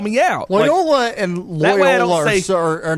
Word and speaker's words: Loyola: gotta call me out loyola and let's face it are not that far off mcafee and mccaffrey are not they're not the same thing layola is hilarious it's a pronunciation issue now i'm being blown